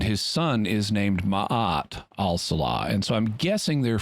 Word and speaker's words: al-Salah: And also his name is Commander Hansen al-Salah. Yeah. And which, if I'm thinking about it, shouldn't that be pronounced as-Salah? S is one of the sun letters in Arabic, if I'm not mistaken.